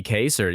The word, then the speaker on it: Kayser: I was like, Kayser sounds like how somebody from Indiana pronounces Kaiser, but in this case, AY, you're correct, I think.